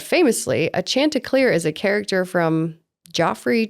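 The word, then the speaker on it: Chanticleers: that how it is the C is silent it's like chant oh chant clear chant clear that's how you say it I'm pretty sure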